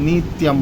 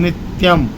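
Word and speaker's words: नित्यम्: नहीं सरस्वती नमो नित्यम यहां पर गड़बड़ हो जाता है लोग ल के कारण नित्यम बोलते हैं बड़ी ई की पई नहीं बोलना है नित्यम सरस्वतीय नमो नित्यम भद्र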